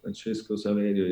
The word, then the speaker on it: Francesco Saverio: Francesco Saverio is similar to Francisco Javier.